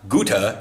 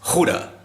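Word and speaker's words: Gouda: you're almost horking something so it's not Goethe it's Hoda you know it's not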